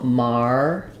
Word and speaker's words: martyr: a video for this it's first syllable stress letters a do say R in this word so Mar um then we flap this T it's going to sound a little bit more like a D um and then the